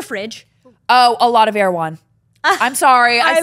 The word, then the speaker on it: Erewhon: And don't say it wrong. Okay, Erewhon, not Erewhon.